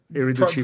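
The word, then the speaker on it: Irriducibili: But I mean, Lazio's Irreducibile, the Unbreakables, is that the correct pronunciation? Yeah. Irreducibile, pretty much there, yeah.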